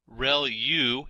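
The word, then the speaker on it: ReLU: there are multiple hidden layers like convolution layer real U is how that is pronounced and that's the rectified linear unit that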